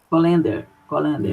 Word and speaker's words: colander: Colander. Isso. A sílaba tônica é o lá.